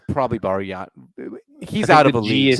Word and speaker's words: Bargnani: I think it's Bargnani. It's probably Bargnani. He's out of a league. I think the G is silent in yeah, like you're right.